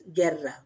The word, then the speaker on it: guerra: So you will silent this U and you will pronounce this guerra.